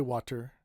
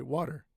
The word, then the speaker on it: water: The first example is water. You can say water. Nobody's going to be angry at you. But normally we say water.